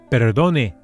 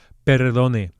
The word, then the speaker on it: perdone: Just take some time to practice flipping that R, perdone. So it's not a trilled R, it's not perdone, and definitely not an English R, perdone. Perdone, a single touch with the tip of the tongue.